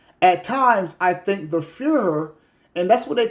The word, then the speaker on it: Führer: F-U-H. How you say it? Führer. Okay, one more time. Führer. There it is. There it was. Boom. The Führer.